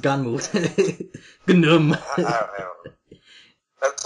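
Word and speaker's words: Gunnm: I know it's spelled Gnum, but it's pronounced Ganmu.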